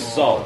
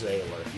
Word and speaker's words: Zähller: your name being Zähller. Oh gosh, yeah. Actually, it's pronounced like sailor, so it's Zähler.